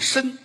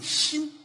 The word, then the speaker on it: 莘: 辛，哦，这是一个多音字，嗯，也念申，嗯，莘莘学子。搁在姓这儿念心心心瑶琴。